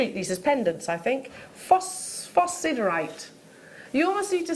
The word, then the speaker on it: phosphosiderite: say phosphos cerite phosphosiderite so it's a silent S no no you say the S but but the citees